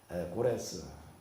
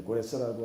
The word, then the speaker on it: 고레스: 그러니까 바벨론을 무너뜨린 피르시아, 성경에는 파사라고 이렇게 나오고 있는데 여기 이제 태조에 해당되어지는 고레스, 이제 역사책에는 이제 고레스라고 하는 것은 이게 이제 헬라어식 발음이고 영어식 발음으로 하게 되면 사이러스라고 그럽니다.